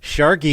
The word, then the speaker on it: Sharky: Sharky, it rhymes with snarky.